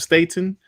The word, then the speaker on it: Staten: So he went back to Joseph, like he pronounced his name, Joseph Staten.